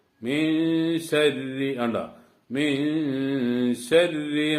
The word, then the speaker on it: شر: ഷർറി എന്നാൻ പാടില്ല. രാ എന്ന ഉച്ചാരണം അതും വരാൻ പാടില്ല. അത് രണ്ടിന്റെ ഇടയിലുള്ള ഒരു ഉച്ചാരണമാണ്. മിൻ ശർരി മിൻ ശർരി മാ ഖലഖ്.